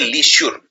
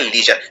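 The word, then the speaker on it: leisure: और इसमें जो जर है ये श्योर नहीं है, ये जर बोलते हैं इसे, लीजर। तो इसको ये नहीं बोलते लीश्योर, इसको बोलते हैं लीजर।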